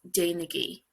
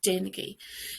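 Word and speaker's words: déanaigí: So dain, which is to do, becomes dainigi, with the igi sound at the end, dainigi.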